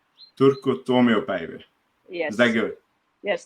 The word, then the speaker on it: Turku Tuomiopäivä: How do you pronounce the competition? The name of the competition? Turku Tuomiopäivä. Turku Tuomiopäivä.